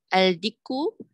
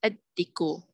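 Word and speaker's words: الديك: Al-diku becomes ad-diku.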